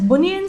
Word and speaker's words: bunion: and the condition itself it says banyan so do you read it as banyan surgery would you pronounce it as bunion surgery in a pronunciation number